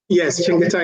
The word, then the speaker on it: Chengetai: Chengetai is Chengetai is the correct way to pronounce it.